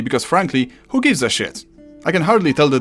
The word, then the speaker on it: sz: English does the same thing, except instead of using S and Z, it uses S and H, like in shoe, shenanigans, or shower, which you haven't taken for too long, and I can smell you from here.